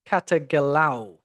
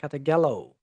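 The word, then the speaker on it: καταγελάω: The Greek root kagalo. Katagalao. There it is. Katagelo. Sorry, I said it wrong. Katagelo.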